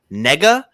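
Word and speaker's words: Negga: her name is Ruth let me say this right Nega I believe as hell pronounced sorry what was that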